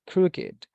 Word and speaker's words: crooked: we have the following Ed words used as adjectives are pronounced with it agreed blessed crooked I'm sorry blessed crooked naked Wicked wrecked like this okay so